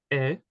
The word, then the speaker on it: est: And then we have il ou elle est. Same pronunciation as tu es, even though there's a letter at the end, it is mute, okay?